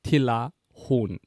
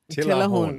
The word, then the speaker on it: Tilahun: But my real name is Talahun. But because you don't have the t noise in the English alphabet, you can pronounce it with a T. So you can say Tilahun. Tilahun.